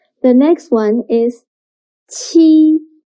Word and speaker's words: 七: Qi sounds similar to the first sound of cheap, but when pronouncing qi, your tongue should be more flat, and also you need to stretch your mouth to two sides.